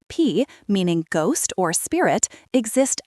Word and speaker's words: phi: In this worldview, spirits called P, pronounced P, meaning ghost or spirit, exist everywhere in rivers, trees, and land itself.